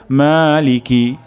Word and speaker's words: مالك: প্রথম শব্দটি হলো মা, অর্থাৎ এখানে এক আলিফ পরিমাণ টান হবে। তারপর শব্দটি হলো লিকি, লিকি এখানে টান হবে না, দ্রুত পড়তে হবে। লিকি, মালিকি, মালিকি, মালিকি।